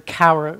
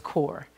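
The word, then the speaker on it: Kaur: of our name is k-a-u-r um and i pronounced the cowar last week and i i've been informed by more than one person that it's core so there you have it valerie core varicor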